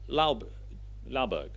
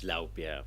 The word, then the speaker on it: Laubjerg: I've messed that up completely. But anyway, he will tell you how to pronounce his name properly. over to you, please. Thanks, Leo. It's Laubjerg, but don't worry about that. So I had a little